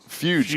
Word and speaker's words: Fuge: spelling isn't too great, but I thought it said I thought it was like the word fudge, and so it was like, but it's what was it? How do you pronounce it? Fuge camps.